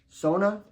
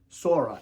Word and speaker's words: Sora: Is my um Sona Sora. I always pronounce it wrong. Is it Sora?